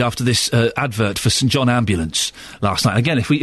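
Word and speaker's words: St John Ambulance: Again, if we if we've learned nothing from the advert, we now know it's St. John Ambulance, not St. John's ambulance. And boy, do they get upset when you say it wrong.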